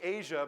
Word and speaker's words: AJA: I never thought I'd see Asia become Switzerland. AJA, or Asia as a lot of people pronounce it, is hardware that runs on every NLE, including Smoke.